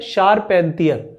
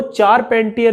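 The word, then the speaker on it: Charpentier: आपको देखो थोड़ा सा इसमें सावधानी बरतनी है कि ये जो स्पेलिंग है ना शारपेंतियर की, वो चारपेंटियर भी प्रोनाउंसिएशन की जाती है उसकी, क्योंकि वो स्पेलिंग CHARA करके है। तो आप चारपेंटियर भी ध्यान रखें, है ना, इसे चारपेंटियर भी याद कर लें और शारपेंटियर भी याद कर लें, दोनों ही काम देंगे आपको।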